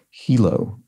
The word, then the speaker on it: Hilo: points out that the location in Hawaii is pronounced Hilo not Hilo so thank you for for that correction as